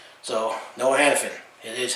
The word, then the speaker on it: Hanifin: don't familiar with all the players and you pronounce names. So Noah Hanifin. It is Hanifin now.